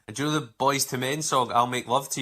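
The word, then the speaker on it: Boyz II Men: Also, I do remember, because it's Boys to Men, and it's spelt with almost like Roman numerals. Yeah, the newsreader. Yeah, the newsreader read out wrong and said, boys 11 men.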